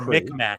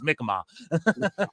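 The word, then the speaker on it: Mi'kmaq: Well I said or Mcmack is how y'all say it and spell it. But it's Mikmma is how we say.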